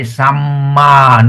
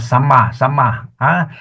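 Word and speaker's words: sammā: When you have got the A behind, you say samma, not sama.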